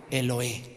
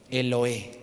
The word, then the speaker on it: Elohe: dice luego elohe Israel elohe eloe letra e l otra l otra e l o h e el eloe el eloe